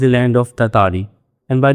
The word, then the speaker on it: Tartary: एंड बाय द वे इस लफ्ज़ की प्रोनाउंसिएशन तरतारी भी है, तारतली भी है, ततारी भी है, और आप इसमें से कोई भी सिलेक्ट कर सकते हैं depending on हाउ प्रेटेंशियस यू आर।